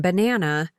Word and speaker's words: banana: Like in banana, the stress is on the second part.